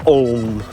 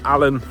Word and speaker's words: Aln: When you hear Alnwick mentioned on TV and radio, you hear them pronouncing it as Alnwick, and the River Aln. Allenmouth, Alnwick, the River Allen, that's how you pronounce it.